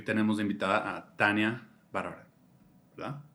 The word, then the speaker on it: Barbará: Estamos en Tópica Radio y hoy tenemos de invitada a Tania Bárbara, ¿verdad? Bárbara.